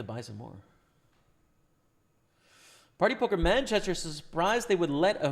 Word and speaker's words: Manchester: UK don't pronounce it Manchester. It's Manchester, right? The emphasis is on the first the first part of the word, whereas I feel like